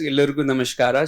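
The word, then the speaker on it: ಎಲ್ಲರಿಗೂ ನಮಸ್ಕಾರ: So he told me it is Illurgu Namaskara. So pardon me if the pronunciation is a bit misplaced or here and there.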